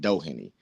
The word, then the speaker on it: Doheny: that doen that's is that's how you pronounce it Doheny I've been hearing all kinds of uh all kinds of names about this guy all kinds of different things but uh doen is how you say it and thank you guys